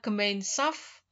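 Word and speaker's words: Gemeinschaft: sosial yaitu kelompok gemainsf tulisannya gemainskf ya membacanya adalah gemainsf dan yang satu adalah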